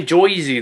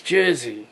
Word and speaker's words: Jersey: you know but yeah Jersey don't say joizi though it's Jersey yeah you gotta pronounce it right unless you get into